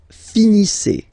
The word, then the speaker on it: finissez: Vous finissez. Vous finissez. Okay, EZ at the end gives you the sound E.